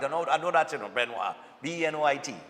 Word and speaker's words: Benoit: Coming from her grandmother, Miss Benoit, pronounced Benoit. Okay, but I got that right. I know that, you know, Benoit.